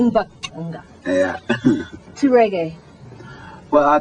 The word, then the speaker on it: Mbaqanga: that how you pronounce it? Mbaqanga. Mbaqanga.